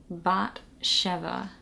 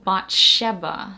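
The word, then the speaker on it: Bat Sheva: now the next one there's actually two ways that you can pronounce this one that's kind of another theme because of the origins of some of these names um B Chev bot cheva you can also do bot Sheba so the B sound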